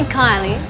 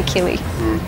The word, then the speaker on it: Kylie: You should say Kylie. That's the Australian way of pronouncing it, but most French people say Kili.